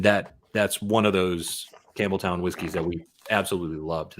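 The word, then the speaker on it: Campbeltown: think are good um one that we mispronounced the entire time we were in Scotland was uh Campbelltown we kept calling it Campbellton because we thought there's no way it's as easy as just saying it straightforward as it's spelled it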